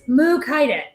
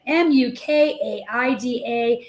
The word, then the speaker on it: Mukaida: mu kinda you say how do you say mu Qaeda it is mu Qaeda mu kaid a and that is Randy's